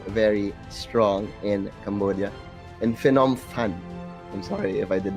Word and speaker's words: Phnom Penh: Phnom Penh. Yeah. So we'll be sure. And yesterday we were also trying very hard to pronounce all of the names properly, especially with Vichet.